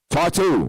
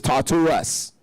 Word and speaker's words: Tartarus: Tartu, right here. That's how they pronounce it, but it's Tartarus.